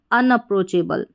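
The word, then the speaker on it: unapproachable: तो क्या हो गया पूरा इसका उच्चारण अनअप्रोचेबल।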